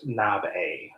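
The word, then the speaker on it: 鍋: It's pronounced nabe.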